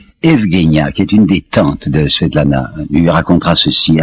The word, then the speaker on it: Svetlana: Je crois que c'est une manie russe de donner des diminutifs, alors elle s'appelait, il faut prononcer paraît-il, Svetlana.